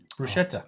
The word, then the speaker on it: bruschetta: Bruschett bruschetta. Bruschetta. That's how you say it.